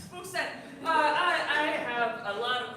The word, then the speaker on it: Spookstein: You said it right. Nobody ever gets my name It's right. very hard to pronounce. Stein. Spookstein.